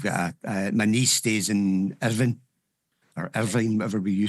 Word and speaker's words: Irvine: I've got my niece stays in Irvine, or Irvine, whatever we you say it. In Scotland, we say Irvine, but English say Irvine, and I think Americans say Irvine as well.